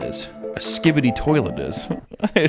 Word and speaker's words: Skibidi toilet: Well, let me tell you what a shibidi toilet is. A skibidi toilet is.